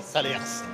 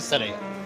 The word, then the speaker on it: Salers: On ne dit pas Salers, on dit Salaire. On dit pas Paris. Non. On dit Paris, mais là c'est Paris. C'est que les touristes qui disent Salers. On ne prononce pas les dernières lettres en Auvergne.